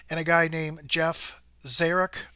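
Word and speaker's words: Czyruk: a guy named Jeff Zarek. Hopefully I'm saying his name right, but it's spelled C-Z-Y-R-U-K.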